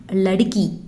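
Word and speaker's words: लड़का: சிறுமி அப்படின்னா லடுக்கி. சிறுமி, லடுக்கி, கேர்ள், லடுக்கி. இதே சிறுவன் அப்படின்னா லடுக்கா அப்படின்னு ப்ரொனவுன்ஸ் பண்ணணும்.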